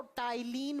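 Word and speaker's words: ptyalin: है अब आप बोलोगे मैं स्पेलिंग में तो पी से लिखा है बेटा स्पेलिंग में पी से लिखा जाता है जब प्रोनाउंस करते हैं तो टाइलिन बोला जाता है इसे तिल माइलेज या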